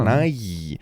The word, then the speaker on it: Nighy: Bill Nighy. I believe that's how you pronounce it. Yeah. Nighy.